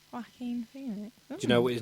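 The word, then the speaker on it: Joaquin: was superb perfectly suited to the role it's wacking Phoenix that's how you pronounce his name really yeah wackin Phoenix wackin Phoenix do you know what his name was when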